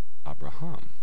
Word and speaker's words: Abraham: new ending that syllable that ending tends to get the accent Abraham not Abraham but Abraham so the accent has